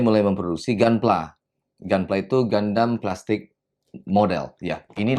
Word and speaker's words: Gundam: The Japanese people pronounce it with a 'u' in the front... so it's Gundam...Gundam... Something like that. Then in 1980, Bandai began producing GunPLA... GunPLA is "Gundam Plastic"...